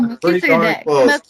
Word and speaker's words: Melchizedek: Melchizedek. Yeah. Did I finally get his name right? Correct? Oh, Melchizedek.